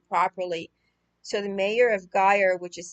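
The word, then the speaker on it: Győr: running hungary the mayor of a city named guyer i'm going to spell that for you because i'm sure i'm not pronouncing it properly so the mayor of guyer which is spelled g-y-o-r which is western hungary's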